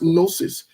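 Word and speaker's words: gnosis: Quickly, let me get let me get um it's pronounced nosis. G N O S I S.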